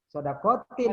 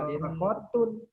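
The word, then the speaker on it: صدقةٍ: Sodakotin karena mengganti salasin. Ya. Sodakotin jariyatin, ya, wa waladin, wa ilmin. Nah, gitu. Jangan dibaca sodakotun.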